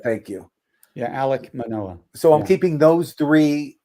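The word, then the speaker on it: Alek Manoah: do you say his name Casey oh Manoa Alec Manoa thank you yeah Alec Manoa so I'm keeping those three for my pitching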